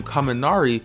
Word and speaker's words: Kaminari: City and his surname kaminari is pronounced the same way as the Japanese word for Thunder when compared to most